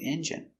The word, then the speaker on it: engine: car needs a new engine pronunciation engine e n n j j strong j i engine engine stress on first syllable engine engine engine he